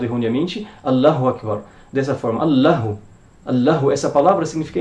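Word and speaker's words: الله أكبر: sen não está em algumas frases um exemplo allahu akbar allahu vamos escrever aqui allahu akbar aqui é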